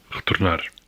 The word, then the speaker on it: retornar: In European Portuguese, it's normally an alveolar tap. R. For example, Retornar. Retornar. Retornar.